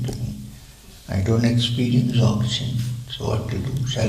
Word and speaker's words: Dzogchen: If you want to write it in English, you start with a D and spell it with DZ. Dzogchen.